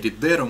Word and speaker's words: Ridero: Есть, значит, сервис, называется Ridero, ударение на О, вроде бы. Ну, или Ridero можно назвать.